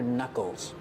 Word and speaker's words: knuckles: These are your knuckles. We see with the word knuckles, the K in the beginning is silent.